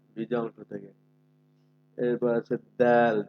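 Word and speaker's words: دال: এরপর আছে দাল। দালটা শক্ত, শক্ত আওয়াজে তবে পাতলা করে আপনি উচ্চারণ করতে হবে।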